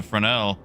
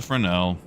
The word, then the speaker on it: Fresnel: So yeah, looks like it's just the Fresnel. Shame. Shame. That is how you say it, right? Like the S is silent.